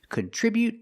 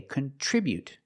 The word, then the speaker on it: contribute: Today we're practicing with these two words, contribute and contribution. The pronunciation is a little different, so let's get started. With the verb, we say contribute. We put the stress on the second syllable.